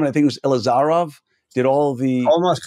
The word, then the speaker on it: Ilizarov: screw up the name I think it was ilizarov did all the almost correct how do you say it elizarov okay fine I close creger ker it's all